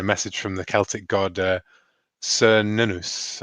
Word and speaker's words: Cernunnos: from the Celtic god Cernunnos, I think is how you say it. Cernunnos. Hard C, but yeah, Cernunnos. Oh, Cernunnos. Yes, I never know the Welsh hard C.